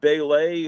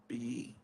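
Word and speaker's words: Bêlit: Wait, it's got a symbol. It's got the long E thing over the E, so it is supposed to be Belit.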